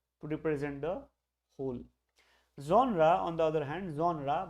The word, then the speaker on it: genre: to pronounce it as honor but it's not his owner genre that's how the French pronounce it foreign let's see I